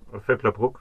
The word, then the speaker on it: Vöcklabruck: Habe ich das richtig ausgesprochen? Völklerbruck, ja.